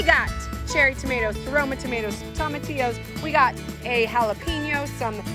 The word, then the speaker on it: tomatillo: I would call them tomatillos. Raquel would call them Tomatillo. Read them. They're what? They say tomatillo. Nice, Raquel. Tomatillo. So, that's also how you pronounce tortilla.